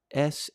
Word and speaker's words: Samhain: Of course, a Gaelic word pronounced Samhain. Sahwin, and I'm probably not pronouncing it properly.